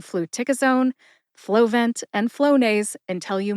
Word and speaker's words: Fluticasone: Put all 4 syllables together and you get Fluticasone. Emphasize tic. See if you can hear tic emphasized when I say it again.